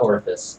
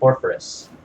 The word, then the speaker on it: Orpheus: Not Orpus, Orpheus. There's an R.